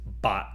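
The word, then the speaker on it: 八: So the number 8 is bat in Cantonese.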